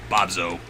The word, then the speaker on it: Bobsheaux: But I decided to spell it not Z-O, but Z-E-A-U-X, because it is French. It is slightly more, how you say, sophisticated than Bobzo.